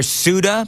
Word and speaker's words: Ceuta: So now I've got 15 people, Joan, telling me the different various pronunciations of Ceuta or Ceuta or Suda, because in the news piece they called it Suda.